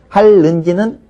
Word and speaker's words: 할는지: 글자대로 발음이 된 거고요 할는지는 왜 니은이 리을로 발음 있을까요 할의 리을 때문에 그렇죠 그래서 리과 니은이 연결돼서 발음되는 것을 싫어하기 때문에 그냥 우리는 발음상 할지라고 발음했을 뿐이에요 그러면 형태는 계속 고정해서